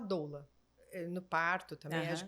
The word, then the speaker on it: doula: trabalhado né Lembrando que doula é uma palavra de origem grega que a pronúncia correta seria dla dla é mas a gente falaa doula eh no parto também